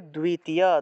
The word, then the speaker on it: দ্বিতীয়: দ্বিতীয় থাকলে উচ্চারণ হবে দ্বিতীয়, দয়ের নিচে বফলা থাকলে, আমরা একটু আগে দেখেছিলাম বফলা থাকলে দুও উচ্চারণ হয়।